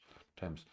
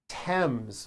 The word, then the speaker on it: Thames: terms temps not temps Thames Esther Esther Esther Esther time time it's which is a spice and names are spelled with a th they are pronounced as if they were spelled with a normal teeth like that and